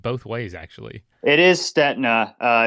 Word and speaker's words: Stetina: ways actually it is STNA uh it's a my ancestors come from Czechoslovakia and then all the Italians racing in Europe would think uh it's staa staa